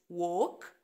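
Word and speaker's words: walk: وست كلمه وينت وينت بعدين وك وك طبعا الال سايلنت وك وات وات وايت وايت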